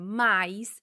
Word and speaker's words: mas: Neste caso, se ouvimos a conjunção mas pronunciada como mais, vamos ter duas palavras com o mesmo som indicando coisas diferentes, oposição ou adição.